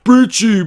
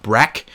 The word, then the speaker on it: Brecci: the comments, "You're not saying it right, it's Brecci, blah blah blah." I don't care. From now on in this video and from now on BlackTideTV, it's going to be called the 205 Breck, and that is what I'm going to call